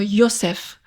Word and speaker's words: Yosef: Et puis, il y a d'autres exemples dans la Bible, comme Joseph, qui doit être prononcé comme Yosef.